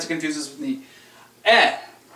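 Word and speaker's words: へ: the hirana for he however it's pronounced e just E when it's a particle it's E when it's in a word it's he this means to towards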